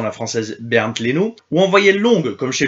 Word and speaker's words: Leno: O à la base celle-ci se prononce comme en français o comme chez le gardien du Bayer evercuson Bern Leno prononciation la française Bern Leno ou envoyer longue comme